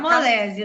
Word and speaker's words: Camolese: É Adriana Camolese, se fala assim? Como Sim, que se pronuncia? é Cam... Camolese, né?